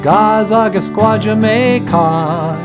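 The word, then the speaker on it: Gaa-zagaskwaajimekaag: So I wrote a song about Leech Lake, how to say it in a Ojibwe. Gazagastwa Jamaicog, Gazagasquajamaycog.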